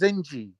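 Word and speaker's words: zenci: slave black slave okay thank you but it's pronounced zenji okay pronounced it's written jensi but that's just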